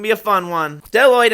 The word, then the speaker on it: Bdelloid: Bdelloid, and yes, there's a silent B there, I'll get to